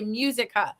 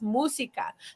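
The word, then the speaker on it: música: in Spanish musica but our brains are gonna want us to say musica oh that's an easy word musica but it's musica think of a cow says moo right so I give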